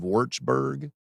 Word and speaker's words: Würzburg: And forgive me if I pronounce this wrong. Julius Maximilian's University of Würzburg. That is correct.